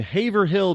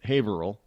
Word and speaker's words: Haverhill: I'm just saying we don't know how to, and Haverhill becomes Haverhill. Yeah, it's not even that the H is silent. It's just a total change in the whole pronunciation.